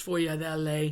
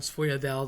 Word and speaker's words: sfogliatella: So, it's sfogliatella. It shows up. People call them sfogliadella. They cut off the vowel. That's like a really common uh mistake.